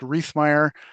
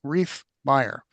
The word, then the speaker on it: Reef Myer: my name is pronounced Reef Myer and it's it's like I like to say it's like Christmas in the swamp Reef Myer I'm so sorry